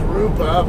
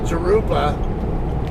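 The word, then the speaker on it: Jurupa: harupa well i like the proper way to pronounce it is rupa but like every stupid american as i call it uh non-californian he called it garupa so i kind of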